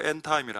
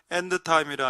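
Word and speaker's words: end time: 종말을 영어로 엔타임이라 합니다. 근데 왜 D 발음이 안 될까요? 묵음이기 때문입니다. 엔드타임이라 하면은 좀 없어 보이죠? 촌스러워 보입니다. 워터 할 때 T 발음 납니까? 안 나죠?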